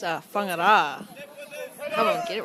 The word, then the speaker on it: Whangara: It's It's Whangara.